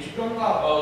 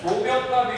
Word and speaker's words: 조병갑: 일단 잘못하면 이게 조병갑. 그렇지. 조가 악센트가 있는 이상해지죠? 그렇죠. 자, 조병갑이 횡포를 부린다.